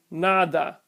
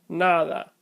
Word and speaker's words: nada: How about the word nada, lago, sabe? If I mispronounce these words with hard sounds, it would sound like nada, lago, sabe. But the correct pronunciation is nada, lago, sabe.